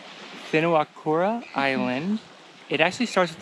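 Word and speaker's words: Whenuakura: donut island also called binawakura island it actually starts with the wh we learned that w h the way it's pronounced is the f sound so it's spinawakura island also known as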